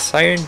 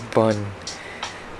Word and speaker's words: Bun: Well, the bot pronounced it as Siren, but I pronounce it as Bun. B-U-N, Bun.